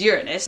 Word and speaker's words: Uranus: You know, the actual scientific pronunciation is Uranus.